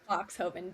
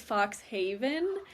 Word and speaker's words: Foxhoven: It's Foxhovven. Foxhovven. You're like, exactly how it's spelled phonetically. You know what I mean, though? I'm like, I'm not even gonna try. You know what? It's okay. Everybody always thinks it's Fox Haven.